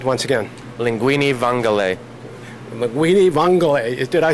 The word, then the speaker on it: linguine vongole: Linguine vongole.